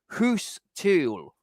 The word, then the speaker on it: Guus Til: West Ham can finally replace Jesse Lingard with move for Guus Til. Yes, it's. I know it's a G, ladies and gentlemen, but in Holland it's pronounced as a H.